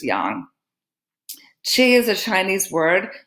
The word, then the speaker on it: yang: words yin and yang most Americans call it yang but the proper way to pronounce it is Yong Qi is a Chinese